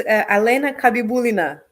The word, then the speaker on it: Alena Kabibulina: pronunciar, pero se llama Alena Cabubilina, algo así. Entonces, did I say it right, Alena? No. I massacre your name? Yeah, so it's Alena Kabibulina, but that's okay.